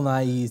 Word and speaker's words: Nighy: How do you pronounce Bill Nighy's name? Bill Nighy, Not Bill Nye, the science guy. Bill Nighy, the British guy.